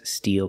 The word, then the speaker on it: steel: open still still and the second word and the third word are pronounced exactly the same the mouth is more closed e make a long e sound Steel so the second word